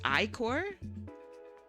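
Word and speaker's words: ichor: It's pronounced I-core. How to pronounce I-core. Oh. I-core. Oh. I've been saying it wrong my whole life. I-core. Have you guys been saying it as Icker too?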